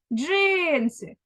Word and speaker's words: джинси: визначимо наголос для цього спонукаємо наше слово отже джинси куди падає наголос правильно наголос падає на перший склад тепер порахуємо кількість букв